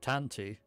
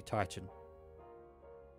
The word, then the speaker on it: Titan: So you didn't make the connection previously, but Tanti, they had been saying wrong. It was supposed to be Titan.